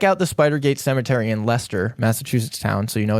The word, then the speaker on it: Leicester: Sorry, did you say you you said it's spelled like Lyster Lester? Yeah, I was going to say for our non-M Massachusetts people, you completely ignore the fact that there's a C in the middle of Yeah. Yeah, I know. It's it it looks like Lester.